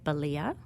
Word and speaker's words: Balia: Balia, which rhymes with Scalia.